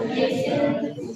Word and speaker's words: listen: the spelling of listen should be L-I-S-T-E-N. इसमें what is silent? T is silent.